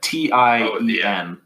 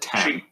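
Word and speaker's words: Tiên: It's like Tien. There it is. But they pronounced it 10.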